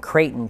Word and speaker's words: Creighton: my name, Creighton, and I always say it's Creighton, like Creighton Barrel.